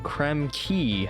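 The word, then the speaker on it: Krem Quay: And I will see you guys next time where we'll be going into Creme Key, I believe it's pronounced actually.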